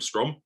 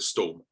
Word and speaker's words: Strom: In the last 2 or 3 years, people know the name Strom. Absolutely. And I don't have to correct them. But for years, people would call it Storm.